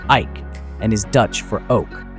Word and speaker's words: Eyck: after him the name of Eyck, which is pronounced Eyck, and is Dutch for oak.